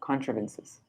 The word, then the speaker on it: contrivances: there cool controvenses okay tribe rhymes with thrive contrivances oh contrivances okay thanks